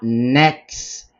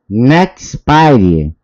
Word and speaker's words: Nexperia: chips em meio à briga acirrada com a Nexperia, tá? Eu acho que é o Nexperia. Bom, a pronúncia também pouco importa, né?